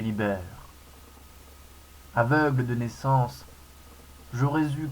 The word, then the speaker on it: Lee Baer: Je m'appelle Libère, prononcé Libère.